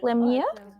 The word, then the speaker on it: Lemieux: Lemia. Would that be the pronunciation of your last name? Yes. Okay. So Lemieux, he is an artist, writer, and photographer based in Toronto.